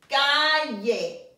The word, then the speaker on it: calle: Gato, perro, calle. Remember the double L is a Y sound.